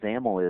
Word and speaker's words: XAML: Um, by the way, ZAML XAML is the is the acronym there and that's pronounced with a, you know, rhyming with camel.